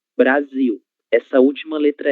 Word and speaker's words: Brasil: Então, letras Ls, em final de sílaba terão som de U. Ok? Então, 1000. É por isso que a palavra Brasil em português se pronúncia Brasil. Brasil.